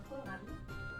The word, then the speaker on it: Kohlrabi: Oh, how do you say kohlrabi? Kohlrabi. It's the same.